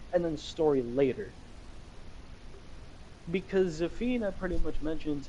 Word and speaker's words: Zafina: Zafina. Yeah. And that is how you pronounce her name.